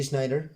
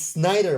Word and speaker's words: Snider: watched it how angry everyone gets that d schneider d snyder schneider it's snyder but for some reason i can't help pronouncing pronouncing schneider s c h e a